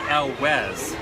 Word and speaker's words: Elwes: So we have a discussion Or going on, elves. and it's actually Elwes. Elwes? It sounds Yeah. Welsh or something.